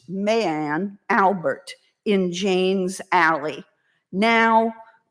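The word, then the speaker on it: Mary Ann: the natural that is illegitimate son of William Willie Armstrong and Maryanne pronounced Mayanne Albert in Jane's alley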